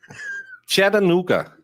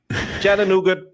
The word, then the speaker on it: Chattanooga: Chattanooga. Blame the local Indians. Why do you keep calling it nougat? Chattanoo. Because that's how it's spelled. There's no T at the end of Chattanooga.